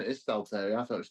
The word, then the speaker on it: Stalteri: I corrected your pronunciation. It is Stalteri. I thought it was Stalteri.